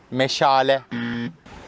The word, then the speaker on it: meşale: direkt olarak gitsem daha iyi olmaz mı mı meşale meşale meşale hayatında hiç meşale gördün mü bu